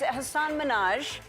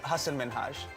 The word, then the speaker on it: Hasan Minhaj: If you can pronounce Ansel Elgort, you can pronounce Hasan Minhaj. And it's Hasan Minhaj. No. Yes. No. Really? Well, my name is Hasan Minhaj.